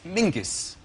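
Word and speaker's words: Menzies: his name is very odd his name is Mingus Mingus yes SC yeah Ming yeah but it's pronounced it's it's spelled m n z i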